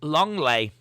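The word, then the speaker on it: Lenglet: in this tournament uh langlet is pronounced longley not after not after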